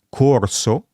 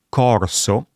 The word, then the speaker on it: corso: Pensiamo a due parole come corso, un participio passato con la O chiusa o, e corso, un abitante della Corsica con la O aperta.